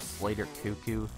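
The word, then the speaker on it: Slater Koekkoek: let's bring him up and let's bring up Slater cucko that is how you pronounce it actually actually I've I've asked him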